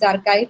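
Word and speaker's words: arXiv: This pronunciation is archive, that also you can use.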